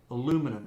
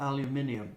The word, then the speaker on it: aluminum: And that aluminum, and that's the correct pronunciation for all you people in England, aluminum, not aluminium.